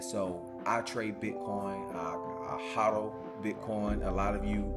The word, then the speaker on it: hodl: Like, so if you are not familiar with cryptocurrency culture, you don't know what hodl means.